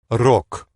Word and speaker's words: рок: Рок. In English we say rock, and they say rock. Рок.